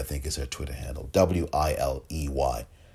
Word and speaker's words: Wiley: And she's at Maya Wiley, I think is her Twitter handle, Wiley. Not Riley, like Bill Ritter mispronounced it last week at that debate that I played you a portion of, but Maya Wiley, Wiley.